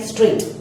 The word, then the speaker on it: straight: In straight, G and H are silent.